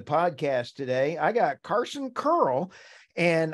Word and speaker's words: Kearl: today I got Carson curl and I'm having to pronounce it like curling up in Canada because he's coming from Calgary today thank you Carson for